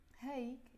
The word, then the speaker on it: هيك: So when I'm speaking it, I usually personally say هيك, not هيك. But maybe because of the song, she wants to make it rhyme with other words, so she says هيك. But also, of course, there are people who say هيك, and I think it's more like the villagey accent of Lebanon when you say هيك instead of هيك.